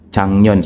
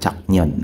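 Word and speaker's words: 작년: means last year Yes Chang yon So Bakit naging pronunciation niya is Chang yon instead of chak yon Okay so yyung mga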